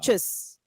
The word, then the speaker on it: tschüss: tschüss. Chus. Tschüss. Oh, I see. Tschüss. You could also say tschüss or tschüss, depending, like, you know. That is way too many letters for a one syllable word.